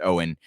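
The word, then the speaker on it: Eoin: It's his first name's a little bit, it's spelled weird, E-I-O-N, pronounced Owen Higgins.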